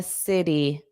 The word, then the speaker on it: city: Richard lives in the city. City. So the T in city becomes a soft D. City D. Not T T.